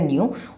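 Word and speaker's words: ν: न्यू बोलते हैं इसको, मतलब मुंह से न्यू, और ये होता है हमारे पास म्यू, है ना।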